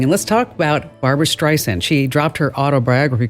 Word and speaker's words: Streisand: She was saying it like Streisand. And she's like, no, it's Streisand, like sand on a beach.